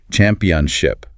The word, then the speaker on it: championship: And championship is four distinct syllables with the stress slamming down on the first championship.